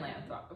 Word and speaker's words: Lathrop: We're in Lathrop.